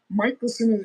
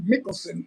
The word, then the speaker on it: Michelson: see I don't know no it's it's not michelon it's really Michelson in the in the old world in in um Norway it's pronounced m i c h e l